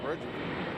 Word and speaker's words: Reykjavik: That's how you say it, Reykjavik. Reggie Jackson plus Michael Vick.